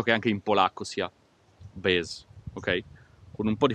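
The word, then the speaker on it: без: Bez, scritto B-E-Z in cirillico, ok? Però la E si pronuncia IE, ok?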